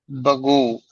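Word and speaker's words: بگو: हाजिर और उनसे फिक्रे बगू बखा बदा बकुन ये ब होगा या बे हो गए बकुन तो ठीक है लेकिन बगू में भगो नहीं कहते उसको बिगु कहते हैं लेकिन अब हां उसको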